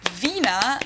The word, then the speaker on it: Wiener: used instead of penis in German we say Vina the German dou is pronounced like an English V and it usually